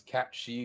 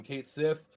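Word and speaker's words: Cait Sith: uh I think technically the correct way to pronounce the character's name is cat she because it's Irish uh but I will I have since a youth have been calling him Kate Sith and that is how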